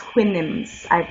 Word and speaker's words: Houyhnhnms: It's spelled Hou, but it's pronounced Houyhnhnms.